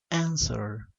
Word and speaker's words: answer: es de dos sílabas answer answer la mayor fuerza recae en la primera sílaba y la dice que